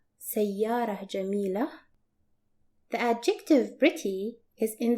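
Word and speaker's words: سيارة جميلة: Another example that will show the feminine form, pretty car, which is pronounced as sayyara jamila, sayyara jamila.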